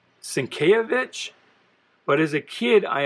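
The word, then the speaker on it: Sienkiewicz: it's bill bill i think his name is pronounced cinkayovich but as a kid i always pronounced it cinco wits so i wasn't a very smart kid uh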